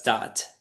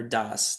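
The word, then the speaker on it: Da'at: That's Dat or Das, depending on how you pronounce it.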